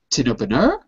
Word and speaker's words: tin opener: Where do you think the stress tin is? Tin opener. Tin open in the third syllable. Tin opener? No. No. Sorry. Tin opener in the first. Exactly. First. You got it.